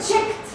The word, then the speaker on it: checked: Check, checked. Ça se prononce T, mais ça s'écrit ed. Checked.